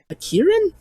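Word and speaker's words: kirin: i think it's called a um well you pronounce this again it's a giant horse monster hey um um are you from iran kieran karen yes there you go oh yes uh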